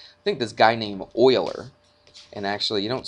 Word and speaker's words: Euler: think this guy named euler and actually you don't spell it e-u-l-e-r okay it's pronounced euler not euler looks like euler doesn't it but he pronounces it oiler i know i've looked